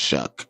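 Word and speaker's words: Shough: Like uh Tyler Shuck, it's it's pronounced Shuck, but it's spelled S H O U G H. Clap for Tyler Shuck.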